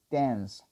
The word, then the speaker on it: dance: La E normalmente cuando está al final en inglés no tiene sonido. Por eso es que cuando pronunciamos este verbo que es tan conocido decimos dance, dance. No decimos dance, dance, se. Esa E no suena. Suena la C pero no la E.